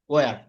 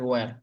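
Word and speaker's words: were: আমরা তো এভাবে পড়ছি আগে ওয়ার। তো এখানে ই, এটা ভাওয়েল, এরপরে আর এখানে এসেছে, তো আরটা এখানে তারা সাইলেন্ট করে রাখে, একদম উচ্চারণ করে না। তারা এই জন্য বলে এটা ওয়া, ওয়া, ওয়া।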